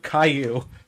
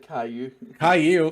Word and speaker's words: Caillou: over here in america for some reason it's spelt like kahlua and it's spelt like